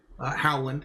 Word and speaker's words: Holland: host Holland uh as some people call me Howland if you want to say it correctly I'm joined by AP